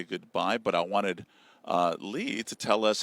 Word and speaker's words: Lea: The song is called One Good Man, and it's my next single off my EP, pronounced Lee.